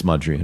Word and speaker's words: Mudrian: Um, and I asked him right away about the pronunciation because I think I used to say Mudrian, Mood, it's Mud, but it's Mudrian.